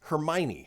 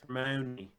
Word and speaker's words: Hermione: You have Twitter user Carrie May who said Hermione, spelled Hermione.